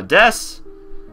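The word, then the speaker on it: です: and like I said it's such a common word we just sort of drop the U usually but it's still spelled with the U cuz you can't just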